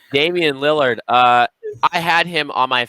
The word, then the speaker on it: Lillard: Number 6, Damian Lillard. I had him on my fantasy team and he popped off. And I didn't know how to say his name at first. I called him Lilliard. I remember this.